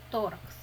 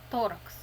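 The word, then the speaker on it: thorax: тул торакс Рудна клітка Т читається як Т торакс остання буква читається к с торакс кавітас тораціс порожнина грудної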